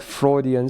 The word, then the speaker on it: Freudian: So it's like Freudian slip.